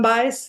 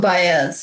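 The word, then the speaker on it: Baez: Is that how you pronounce it? Joan Bias. Joan Bayz. Yeah.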